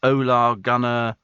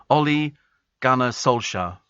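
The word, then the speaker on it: Ole Gunnar Solskjær: in compensation to um to the sacking of olar Gunner how' you pronounce his name olle Gunner Sola all right 8 million no Ole gner Sola there you go so they're they're prepared to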